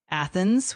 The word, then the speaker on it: Athens: Uh the initial a in Athens is indeed pronounced like the a in cat.